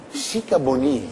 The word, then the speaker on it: Sikabonyi: Chicaboni? Chicaboni. Ah sì? Questa sì. È l'esatta pronuncia del suo nome? Sì, si sa. Oh, mi scusi, tanto. Abbiamo sempre detto Chicaboni. Abbiamo sempre sbagliato.